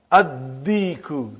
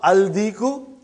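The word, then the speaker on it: الديك: And when you will pronounce them with alif lam, you will not pronounce lam. Okay, look at this, brother. Come to number 3 and go down. Come to number 3 and go down. Addiku, not aldiku.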